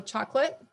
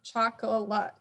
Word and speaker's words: chocolate: So chocolate, I'm not saying chocolate. So I'm even changing how many syllables are in the word because I'm eliminating that schwa because it's easier to say.